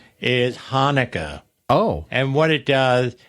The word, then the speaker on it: Hanukkah: word is mispronouncing is Hanukkah oh and what it does it puts the accent on the first syllable so it become so every time time I type the word it says hanaka that's funny that's good